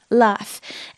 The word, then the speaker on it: laugh: So, ignore the spelling. It's a F sound. Laugh, laugh. It rhymes with calf, which is a baby cow, half.